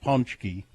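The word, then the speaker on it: pączki: dut it's spelled and I don't know how you get punchki out of p a c z Ki look that up they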